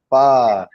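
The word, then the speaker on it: phở: I was going around calling it pho for a couple of years, actually, until someone said, no, it's pho.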